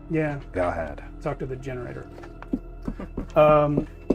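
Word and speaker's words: Galhad: awesome name g hog g a l h a d like Galahad but without the middle syllable yeah gahad talk to the generator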